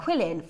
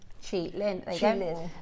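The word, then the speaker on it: qilin: And energy is chi, which is q i. So, so if you remember that, chi and then lin. Chi lin.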